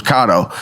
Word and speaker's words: cotto: cotto salami it was I thought it was Cotto the said it was kado and kicked me off and